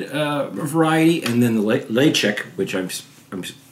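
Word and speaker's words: Ledaig: uh uh non-ed uh variety and then the leek which I'm I'm pronouncing properly but it's spelled l e d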